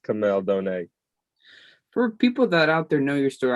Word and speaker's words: Kamel Douhne: um my name is camille donai a lot of people you know get it wrong but it's all good but it's pronounced kamel donate for people that out